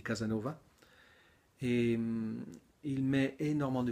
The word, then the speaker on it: Casasnovas: Je ne pense pas que ça se dit Casasnovas, mais ça s'écrit comme ça. Je pense que ça se dit Casanova.